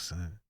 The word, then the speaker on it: Es: S, pronounced like the letter S, but spelled ES.